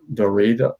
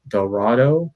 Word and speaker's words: Dorado: mexico uh and then lance dorito dorado i believe is how you say his name is another masked uh